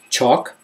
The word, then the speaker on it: chalk: don't bulk pronounced L chalk don't hear the L there halt malt salt Walt